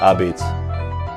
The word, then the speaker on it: Abeetz: the abbeys pizza truck our beats came from my grandparents they they were immigrants from Italy and they spoke broken English when they came that's kind of how they pronounce pizza I beats I actually traveled all